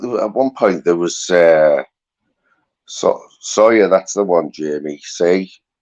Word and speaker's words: Sawyer: Sewer is not your second name, mate. Is it Sawyer? No, it's spelled S-A-W-Y-E-R. It's not spelled S-E-W-E-R, is it, guys?